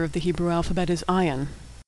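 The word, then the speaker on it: עין: the Hebrew alphabet is Ion ion is silent like Olive ion dips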